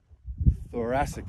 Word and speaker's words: thoracic: my vertebrae and my thoracic spine, which I just want to point out has two C's separated by one letter that are pronounced in completely different ways.